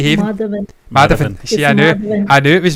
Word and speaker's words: Madhavan: Madhavan.